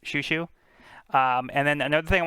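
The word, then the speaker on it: Chouchou: But yeah, it is pronounced Shushu. I believe it's like a French term. That's the influence for it. But yeah, it's pronounced Shushu.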